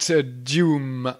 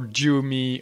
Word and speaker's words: Dume: Let's have a look at Dume or Dumey. Okay, we have to decide how to pronounce this. So in French, it's Dume. Let's say Dume in English.